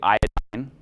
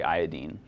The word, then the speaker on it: iodine: Something that somebody pointed out to me, fluorine, chlorine, bromine, the end we're saying ene. How would you pronounce this fourth one? A lot of people say iodine. That doesn't fit with the way that we pronounce the other ones, so I say iodine.